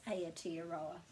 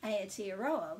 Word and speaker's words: Aotearoa: know how to pronounce and anyone else who thinks it's a tea arowa because there's no point changing the name or making challenging ourselves to pronounce it as aotearoa when that isn't correct it's really important to